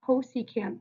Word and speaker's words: cosecant: So if cosecant, if CSC theta, which is pronounced cosecant theta, is the reciprocal of sine of theta, now we're not going to have the opposite over the hypotenuse.